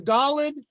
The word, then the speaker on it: Daled: So the Daled is going to be D as in David. That's how we're going to pronounce it.